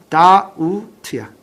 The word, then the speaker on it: doubt: 발음해봐. doubt야. doubt. B가 발음 안 나?